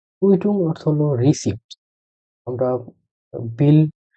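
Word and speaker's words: Quittung: হলো কু উই কে তে উ এন গে কুইটুং কুইটুং অর্থ হলো রিসিভ আমরা বিল যে একটা পাই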